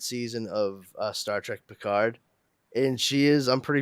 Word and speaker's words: Picard: say his name with the proper French pronunciation she doesn't ever call him Picard she calls him picar God we needed you